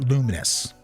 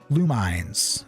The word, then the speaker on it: Lumines: number 10 we got luminous or lumines you know I never really got how it's supposed to be pronounced but I always said lumens lumens is not an